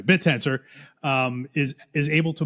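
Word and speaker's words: Bittensor: So if that's true, right, and um and Betensor is um I don't know why I just pronounced it like Barry Silbert, but anyway, Bitensor um is is able to motivate at this time 10% of the GPU.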